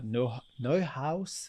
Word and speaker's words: Neuhaus: and she mentioned specifically the work done for Neuhaus. Do I pronounce it right?